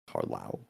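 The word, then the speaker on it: Carlisle: Carlau. Carlau. Yeah, that's not even loud. That's how you say it. Is the S silent? Yes, it is.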